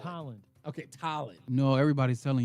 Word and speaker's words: Tolland: It's Tolland. Tolland.